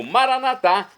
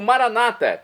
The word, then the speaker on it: Maranatá: E agora eu clamo Maranatá, do aramaico, como dizemos nós católicos, ou Maranata, como dizem nossos irmãos separados, os evangélicos ou protestantes. Não importa a pronúncia, o significado é o mesmo.